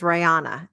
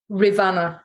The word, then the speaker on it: Rivanna: I pronounce it in my head as Rihanna. Is that how it's supposed to pronounce? Rivanna K9 Services.